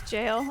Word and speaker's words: Jill: What's jail? Oh yeah, yeah. It's like a southern way of pronouncing Jill. It's like colloquially Jill.